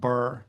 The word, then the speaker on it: Birr: I am from a small town in the middle of Ireland called Birr. That's spelled Birr.